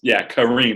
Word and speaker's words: Kareem: Kind of Kareem, not cream, because it is spelled Kareem.